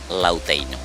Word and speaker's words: Lautem: Antau naran Lautem ema pronuncia tambah ho influencia husi kolonização nenia. Mas be originalmente hatete kata Lauteino.